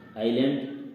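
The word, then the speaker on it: island: प्रकार अगला वर्ड है आइलैंड आइलैंड जिसमें एस साइलेंट है इसका मतलब होता है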